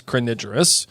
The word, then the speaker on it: crinigerous: Pronunciation is crinigerous.